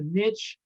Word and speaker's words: niche: group and it's a niche uh we're all uh i never know whether it's mitch or niche i've heard it pronounced both ways i think everybody is